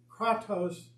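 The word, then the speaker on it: κράτος: It means, it's pronounced kratos, and it means power or strength.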